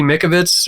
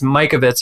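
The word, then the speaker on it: Mikovits: thing and in Judy Mick Abbott's or Mike Ovitz sorry that's boys pronounced her name wrong but it's Mike Ovitz is correct she's one of my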